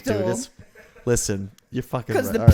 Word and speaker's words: pterodactyl: pterodactyl. Listen, you're fucking right. Because the P is silent.